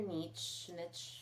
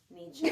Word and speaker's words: niche: I think figure out your niche. How do you say that word? Niche. Nietzsche?